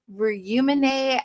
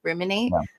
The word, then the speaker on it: rYOUminate: So, it's just humanate. And there's like a lot of exercises that I have to do. Um, even branding wise to let people know that it's pronounced just like the dictionary word ruminate.